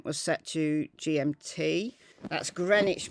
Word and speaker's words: Greenwich: set to gmt that's greenwich mean time not green witch as i've seen some